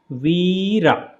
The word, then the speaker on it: Vira: Warrior one and Warrior one is pronounced like this so it is a Veera so I have put here 2 times e right usually when it is written wherever you will see it will be I so I means a